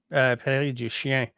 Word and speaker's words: Prairie du Chien: Prairie du Chien, which is probably a total, um, Yeah, I I, just saw how that's spelled. That's Prairie du Chien.